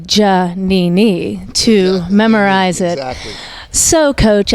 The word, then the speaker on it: Giannini: where I realize it's jhemini and you nailed it because that's how the italians pronounced it and I did say jhemini to memorize it so